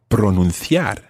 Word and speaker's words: pronunciar: to use the verb pronunciar. Pronunciar. Watch that. It's pronunciar. Pronunciar. Okay, and in Latin American Spanish, obviously, that would be pronunciar.